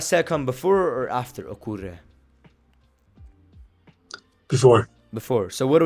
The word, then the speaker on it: ocurre: Ocurre. Great. Ocurre. Remember the U is u.